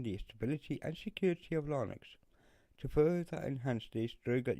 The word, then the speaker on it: Linux: little WAV file that told us how to pronounce it, but it's Linux.